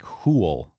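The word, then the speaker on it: hwyl: Let's see, I don't see anything weird about h's. So, I guess it would be something like hwl. Yes. Hwl. h w y l. Because again, I'll I'll say again, w is sort of like an oo, and the y is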